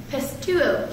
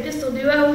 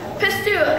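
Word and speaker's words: πιστεύω: And that Greek word for believe is, please pronounce it, pistuo. She told me to say pistol duo, and I said, I get up here and say that. Anyway, pistuo, and it's basically the meaning of that word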